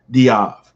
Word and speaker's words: Dave: big guy mind you his last name was dave it's spelled dave d-a-v-e but his is pronounced diab so he's a middle